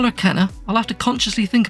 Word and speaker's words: Kena: just need to say I think her name's actually pronounced Cana Keener but if I don't call her Kenna I'll have to consciously